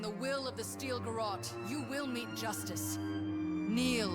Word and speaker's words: garrote: Okay, it's Garrote.